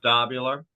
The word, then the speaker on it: Dobular: due dissidents we got Keaton Weiss and Russell dobular I hope how do you say that last name you got it you got it dopular you got it yeah you got it my